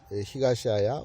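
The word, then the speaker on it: 東漢: 그걸 아야라고 읽는데 앞에다가 동을 붙여서 히가시아야 그리고 서를 붙여서 니시아야 이렇게 하는데 그 아야 씨가 했던 일들은 엄청납니다.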